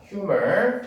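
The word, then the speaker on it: humor: 자, 휴머. 자, 명어 발음은 H 발음이 납니다. 우리는 유머라고 얘기하지만 자, 유머로스하게 해결이 됐다는 얘기입니다.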